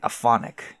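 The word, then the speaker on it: aeonic: I hope I still have I hope I don't wake up with like like aonic. Is that a word? I think it is. Yeah. Aonic. Sorry. Aonic. The a is pronounced.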